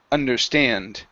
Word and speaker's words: understand: word here is understand the stress is at the end of this word understand understand good so uh